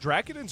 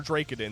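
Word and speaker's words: Dracadin: Yeah, so these Protoss, are they pronounced Drakidins or Drakidins? That's Somebody right. Correct. Drakidin, yeah. Drakidin. Okay, so we have the Drakidins here.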